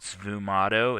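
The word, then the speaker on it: sfumato: style of painting here and it was called svu motto it's spelled s-f-u-m-a-t-o and it stands for smoky technique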